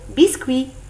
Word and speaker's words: biscuit: Dans le mot biscuit, on ne prononce ni le T ni le S.